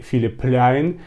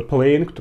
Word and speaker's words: Philipp Plein: допросов было в комментариях Как тебе филипляйн либо playing Как хотите так говорить но по-моему правильно произносить Филипп пляйн Да но я могу ошибаться если что в комментариях